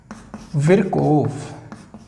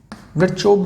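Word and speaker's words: Virchow: उनका नाम था रुडोल्फ विर्कोव। विरचोव भी बोलते हैं बहुत से। देखिए विरकोव की स्पेलिंग ये है VIRCHOV, तो इसको विरकोव बोल सकते हैं या विरचोव बोल सकते हैं, ठीक है।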